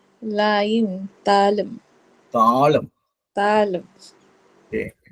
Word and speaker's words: தாளம்: தா லாயும், தாளம். தாளம். தாளம். ஓகே, என்ன ஒரு விஷயம்னா இதுல வந்து தா அப்படின்னு சொல்லும் போது நம்ம நெடில தான் உச்சரிக்கணும்.